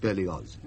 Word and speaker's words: Berlioz: I'm sorry, but the name is Berlioz. German in origin. The family has lived in Savoy for generations, of course, but it is pronounced Berlioz.